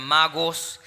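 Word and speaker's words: μάγος: la biblia verdad y en su original se pronuncian magos y ahí es donde aparece la palabra sabiduría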